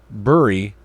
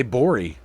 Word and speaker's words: bury: Bury is the way some people in Pennsylvania pronounce bury.